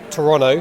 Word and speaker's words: Toronto: I know you said you're based in Toronto, which I learned how to pronounce that from Argo. Ben Affleck says they don't say the second T.